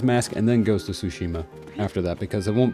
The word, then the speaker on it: Tsushima: I always say Shushima but I know that's not how it's pronounced and I apologize.